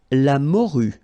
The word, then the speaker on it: morue: La morue. Final E not pronounced.